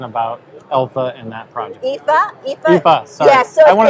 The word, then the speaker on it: Aoife: Right, it's Aoife, and it's Aoife is how it's spelled.